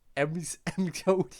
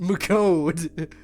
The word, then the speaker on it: McCode: Pronounced McCode. McCode, yes. I didn't even think it'd end up like this, but I'm still liking that my theme was used.